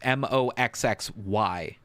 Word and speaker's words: Moxxy: But Mad Moxie is named Moxxi, and I instead spell it like Boxy, so it's Moxxy.